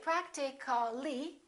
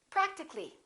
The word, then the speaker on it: practically: practical we don't say practically we drop the a and we say practically physical how would we